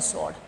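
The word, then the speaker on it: sword: स्वर्ड।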